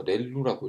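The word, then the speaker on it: ReLU: 어차피 바이어스 텀이 있기 때문에 요즘 말하는 렉티파이 리니얼 유닛에 그래서 렐루라고 읽습니다.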